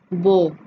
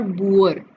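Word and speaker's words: boar: उसके बाद है बो। इट्स नॉट बुअर, इट्स बो। आप इसको कैसे याद कर सकते हो, सुअर, बुअर, सुअर, लेकिन इसकी प्रोनाउंसिएशन जो है वो रहेगी बो, एंड इट्स अ पिग।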